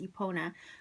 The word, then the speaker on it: Epona: So it says, honored amongst the Celts, Romans, and North Africans as a protector of horses, Epona, pronounced Epona, was said to be the offering of a mare and immortal king.